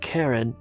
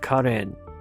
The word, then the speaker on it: Karen: So Karen Minasyan, and by the way, that's the way you pronounce it. It's not Karen, but Karen. There is no Karen in Armenian, so it's only Karen.